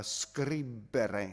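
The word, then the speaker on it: scribere: now you'll notice that the e is not a long e so it's uh scribbere scribbere it's really short and that's the difference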